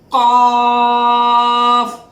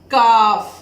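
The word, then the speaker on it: قاف: You will see that when there is jazm on Qaaf, it is pronounced with a closing voice.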